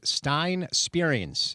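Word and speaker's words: Stijn Spierings: Uh he is a Dutch central midfielder and I do have the correct pronunciation of his name. It is Stein Spears is his name.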